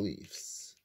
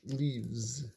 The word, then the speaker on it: Leafs: Next on the docket is the Toronto Maple Leafs. First grower picker, Connie said on the Love Guru Leaves. It's actually Leafs. You pronounce it wrong for comic relief.